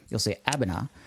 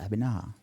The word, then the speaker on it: Abenaa: else, and you'll see Abenaa, which is spelled Aben with 2 A's at the end, right? Yeah. And that always makes me think, like, to extend that last syllable, Abenaa.